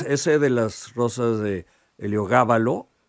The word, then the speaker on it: Heliogábalo: de las rosas de heliogábalo con acento en la a eh el esdrújula eh Es realmente espectacular